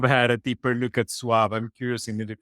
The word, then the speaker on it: Suave: me pronouncing it as Suave, because it's like I'm swallowing the E. The Spanish would just say Suave.